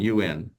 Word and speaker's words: un: But then that funny sound for the number one is often shifted to un bon vin blanc, or at least having the same, it's rhyming with the vin.